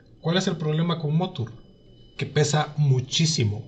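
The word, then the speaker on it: Mothur: Que suena como madre, pero con U, Motur. Que generar estos modelos no es necesario porque Motur es muchísimo más robusto. ¿Cuál es el problema con Motur?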